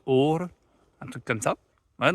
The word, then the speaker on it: Åre: Donc c'est pas Ar, comme je disais. Mais en fait, le A avec le rond dessus, c'est plus une sorte de O. Donc c'est plus Or, un truc comme ça.